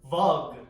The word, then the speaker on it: vug: Vug.